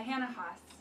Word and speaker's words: Hanna Haas: Is that the correct pronunciation? Yeah, Hanna Haas.